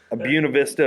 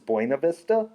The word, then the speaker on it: Buena Vista: And then my two favorites, Buena Vista, Virginia. They pronounce things wrong in Virginia to tell whether you're a Yankee. So to everyone else, this is Buena Vista, but there it's Buena Vista.